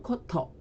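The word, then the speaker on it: 古都: 그럼 일본어 발음은 자, 코로 발음한다 그랬으니까 고고학은 코코가크, 그리고 고도는 코토 이렇게 발음이 됩니다.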